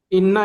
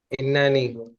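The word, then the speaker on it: إنّي: इन इन्ना इन्ना ई तालिबुन। इन्ना नहीं। इन्ननी, हाँ इन्ननी तालिबुन।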